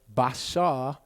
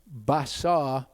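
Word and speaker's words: בשר: called the gesh okay when you've got a dot in the middle that letter is pronounced as a b when you don't have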